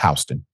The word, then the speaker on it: Houston: out of H County I know it spell Houston is pronounced hon is threatening to take